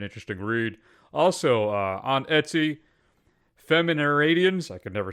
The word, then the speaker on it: Feminaridens: Also, on Etsy, Feminaridians, I can never say it, which is spelled FEMINARIDENS.